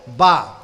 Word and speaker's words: با: شریفہ کا سب سے پہلا حرف با، جسے ہم اور بہت سارے ہمارے بھائی اور بہنیں بے کہتی ہیں، بے تے سے. بے تے سے یہ اردو کے تلفظ ہیں، فارسی کے ہیں، عربی کے نہیں. قرآن مجید کے اندر کہیں بے تے سے نہیں ملے گا، با تا سا جیم ہا خا ملے گا.